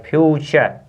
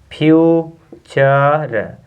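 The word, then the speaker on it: future: उच्चारण क्या हो जाएगा टी का उच्चारण हो जाता है च पढ़ते हैं क्या पढ़ेंगे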